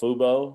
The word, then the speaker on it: Fubo: uh i don't know fubo fubo is that how you pronounce that i think so okay that's right thanks yeah i was thinking of fubu the apparel line and so i just